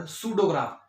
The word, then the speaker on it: pseudograph: Such type of graphs are called pseudograph. Here P will be silent and it will be pronounced like pseudograph.